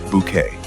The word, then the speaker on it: Bucket: Patricia Routledge brought elegance, precision, and unforgettable comic brilliance to the role of Hyacinth Bucket, the social climbing woman who insisted her surname was pronounced Bouquet.